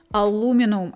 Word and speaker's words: aluminum: Another vital material is aluminium, or aluminum as it's pronounced in the United States and Canada.